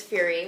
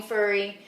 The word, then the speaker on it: Furry: Well, I have to correct you on my name because a lot of people think my name is Fury, which I am half the Fury, but it actually is pronounced Furry with 2 R's.